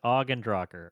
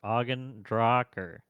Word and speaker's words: ogNdrahciR: If anyone ever hosts in the future, it's pronounced ogNdrahciR. ogNdrahciR. Mm, It's right there. It is backwards.